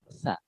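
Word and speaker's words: ث: Huruf sa, titik tiga di atas. Ini pengucapannya sa. Atau yang sulit, ujung lidah itu digigit sedikit. Sa.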